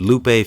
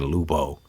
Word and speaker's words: Lupe: I was talking about when I said Lupe Fiasco name wrong on a podcast he and I did called Hip Hop is Being Reset. I swear all through there I kept saying Lupo.